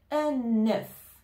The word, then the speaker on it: un œuf: ensemble on va dire un œuf un œuf on fait la liaison j'ai mangé un œuf